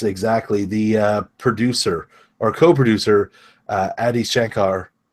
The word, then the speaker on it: Adi Shankar: The producer or co-producer, Adi Shankar, I'm not sure if I slaughtered his name. I think that's pretty good. I've been calling him Ari Shankar until I actually read how you spell it, and I was like, oh, man.